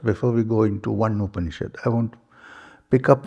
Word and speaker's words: Upanishad: So, it's actually a combination of 3 syllables. Upa, Ni, and Shad.